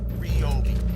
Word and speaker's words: Ryobi: listen here's the deal it's been confirmed over and over again from ryobi that is pronounced ryobi this usb rechargeable battery